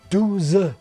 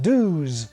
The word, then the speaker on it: douze: The language they speak varies from north to south, being lazier in the south, with words like 12, 12 being pronounced douze rather than the Parisian douze.